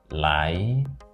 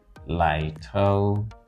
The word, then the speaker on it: litotes: That is in a British pronunciation, litotes. Right? In American pronunciation, litotes. Litotes. So in the British pronunciation, it is stressed on the second syllable, litotes. In the American pronunciation, it is stressed on the first syllable, litotes.